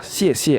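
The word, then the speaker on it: 谢谢: Cara bacanya adalah xie xie, artinya terima kasih.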